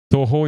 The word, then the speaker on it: Toho: Toho, if you don't know about that, search on the internet. It's like 2 who in French, but it's Toho, how it's pronounced.